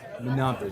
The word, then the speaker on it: Menabde: Mandela, am I saying it correctly? Another Menabde. Minabde, Dr. Yes. Minabde.